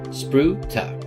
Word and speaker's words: spruta: The ta is almost pronounced like the first part of target. So ta. So we have spruta.